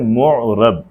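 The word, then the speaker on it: معرب: हैं मोरब ठीक है यह लफ्ज प्रोनाउंस किया जाता है मोरब मीम पे पेश है न साकिन है और जो रे है उस परे जबर मोरब मोरब उस इम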